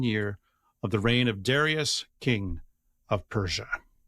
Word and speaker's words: Darius: of the reign of Darius, king of Persia. You don't want to be British and pronounce that Duras.